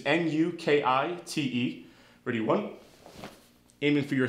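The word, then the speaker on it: nukite: spear hand in Japanese to pronounce it it's a new key thing which is nu ki te pretty one aiming for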